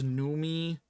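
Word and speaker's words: Noomi: um I think it's numi numi rep price I always thought it was Naomi but it's two o's that looks like new me to me um I'm unfamiliar with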